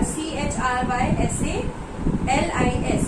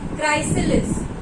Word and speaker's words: chrysalis: You can see over here, CHRYSALIS. So many students are facing so much of this difficulty in pronouncing it. It's chrysalis. Okay? You will, H is silent. Okay? You will simply say chrysalis.